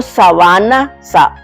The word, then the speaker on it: sabana: Si yo digo sabana va es aquí la célónica en va y es un terreno